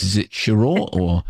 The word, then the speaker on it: Sheraw: Is it Sheraw or how? How'd you pronounce your last name? Yes, Sheraw, Sure.